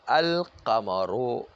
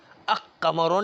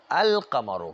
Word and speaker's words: القمر: القمرو، ال کا لام جو تلفظ ہو رہا ہے، قاف کا قمر تلفظ ہو رہا ہے. الف لام کو قلب قاف نہیں کیا، قمرو نہیں کہتے ہیں، القمرو کہتے ہیں.